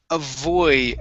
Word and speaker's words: avoid: go to the word avoid avoided avoided avoided all right now now uh here give me a good V sound instead of a boy okay a voy and then D's avoided aoid avoid okay go to go to